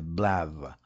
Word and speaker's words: BL: name that is BL but BL is no way of pronouncing that so I got to buy a vow and I will call that the blav law in what follows tongue